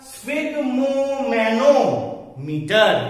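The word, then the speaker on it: sphygmomanometer: ठीक, अगर एक साथ प्रोनाउंसिएशन किया जाए तो कैसा होगा? स्फिग मो मैनो मीटर। एक साथ बोलो मेरे साथ, स्फिग मो मैनो मीटर।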